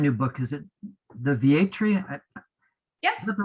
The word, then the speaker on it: Vietri: nicholas a brand new book is it the va tree yeah is that the right pronunciation yep the entry project um is just